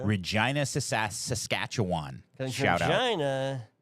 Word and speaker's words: Regina: Because Shout out, Regina rhymes with fun.